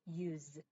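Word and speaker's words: used: 얘가 use 사실 이게 s로 돼 있지만 아까 계속 소리를 강조한 게 는 무성음이죠. 근데 이게 사실 그 사전에 발음 기호를 찾아보면 얘는 use 해서 z 소리가 납니다. 그래서 유성음으로 끝났기 때문에 유성음인 해서 ed를 소리를 내야 되는 거죠.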